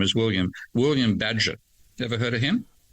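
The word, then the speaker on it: Bagehot: And I thought it was bad. It's actually bad.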